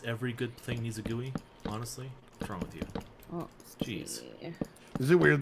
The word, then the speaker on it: GUI: the GUI thing yeah it's a GUI graphical user interface GUI with a soft G you don't call it a dude alright guys hope you